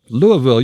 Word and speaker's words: Louisville: They say Vull. Louisville. You are correct.